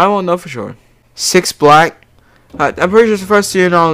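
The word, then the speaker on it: 6LACK: name is six black it says six lack but it's supposed to be pronounced black like oh my god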